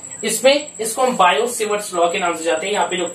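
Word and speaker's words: Biot–Savart: असलम कि के Biot सवर्त लॉ इसमें इसको बायो सेवर्ट लॉगिन नवजात यहां पर उस चैप्टर देखिए मैंने लिखा डाटा यह साइलेंट होता है इसको बोलते बाय उससे वर्ड्स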